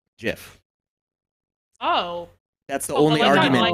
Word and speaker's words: GIF: the other side so the only argument that's really left is what did the creator of the format call it and the creator of the format says it's jeff oh that's the only